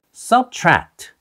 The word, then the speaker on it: subtract: 그냥 요라고 명령하는 문장인데요 여기서는가 아니라 이렇게 장으로 하는 것이 중요하고가 아니라 subtract subtract 이렇게 강조하면서 발음하는 것 기억해 주세요 Don't addra Don't add